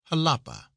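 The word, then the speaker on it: Jalapa: Halapa is pronounced as though it were spelled with an h with a soft sound to the a. Halapa.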